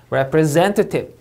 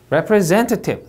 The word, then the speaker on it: representative: representative, representative. 네, 이렇게 3음절 강세.